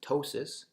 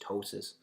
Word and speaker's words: ptosis: color next one is ptosis which just means lowered position of an organ you see there's a P in this in this term but we actually don't pronounce it it's just ptosis and you can think